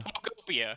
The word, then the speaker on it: Pokopia: You're really Poketopia. struggling. Nope. There's no T. Oh, no T. Pokopia. Pokopia.